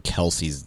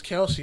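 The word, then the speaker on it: Kelce: saying travis and jason kelsey's last name wrong but technically no yeah everybody thought it was kelsey it's pronounced kels what the [ __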